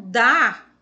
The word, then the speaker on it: dá: fraquinha agora já o dar que é o dado beijo essa pronúncia de cima não sílaba ela é pronunciada fortemente todas as monossílabas que